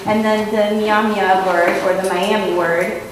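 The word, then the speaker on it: Myaamia: So, I said that also I was Miami, although in our language we pronounce that Nyamya, and that I'm also from Fort Wayne, which is Kikayongay to us.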